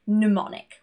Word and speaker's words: mnemonic: For example, mnemonic. We pronounce the N instead.